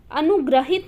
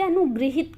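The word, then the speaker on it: अनुगृहीत: अनुग्रहित ना करते, अनुगृहित करते हैं, गृहित, ठीक है, अनुगृहित, ये इंपॉर्टेंट है, इसे ध्यान रखिएगा, अनुगृहित करते हैं, ठीक है।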